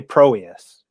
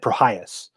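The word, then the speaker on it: Prohías: I used to say Proius. Yeah. But then I listened to an internet pronunciation of it, and they said Prohias.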